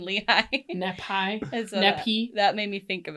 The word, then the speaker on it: Lehi: they would ask him where nephew was and lahai and those are pronounced Nephi and Lehigh that made me think